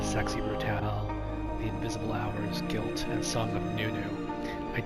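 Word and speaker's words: Gylt: games that are available for the PlayStation series guilt it's spelled g ylt and song of Noo-noo A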